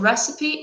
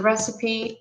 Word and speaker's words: recipe: some oil some flour and some sugar what recipe is it it's pancakes okay so the recipe is the ingredients and instructions for a Pradesh